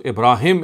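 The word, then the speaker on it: إبراهم: see here you don't find that ha so ibraim is the is the pronunciation here he said in so kala is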